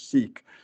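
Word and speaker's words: Sikh: a good portion were of the sick or if or other pronounced pronunciations seek Community which I had no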